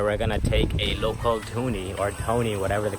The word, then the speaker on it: Dhoni: Dhoni, okay.